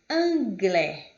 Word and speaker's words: anglais: Palavras com vogais juntas, como AI, tendo ela a terminação em X, em T, em S, em Z, enfim, com qualquer outra consoante, a pronúncia é sempre a mesma. É e é. Como anglais, que é inglês.